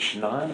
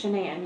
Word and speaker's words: Shanann: All right, so I understand that you are pretty good friends with, is it Shannon or Shanann? It's Shanann. You pronounce it like shenanigans.